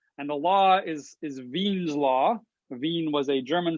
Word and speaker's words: Wien: the law is is veen's law veen was a german scientist so we uh don't pronounce it wien's law we pronounce it veen's law because that's how he pronounced his name but this is a